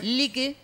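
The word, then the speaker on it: Lykke: Lique, que se escribe L-Y-K-K-E, Essence en inglés, Candles.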